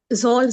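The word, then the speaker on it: ذال: अच्छा ये ना जोल नहीं है, ठीक है, जा अलिफ लाम इसकी स्पेलिंग है जाल, ठीक है, लेकिन दांत को लॉन्ग साउंड होगा ये। जाल, मगर हमको जो हमारी अच्छा जबान है उसको दोनों दांतों के बीच में रखना है, ठीक है,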